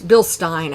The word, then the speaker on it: Bilstein: shocks we'll have penske and bilstein uh or bill stein actually is i think how you're supposed to pronounce it um ml performance will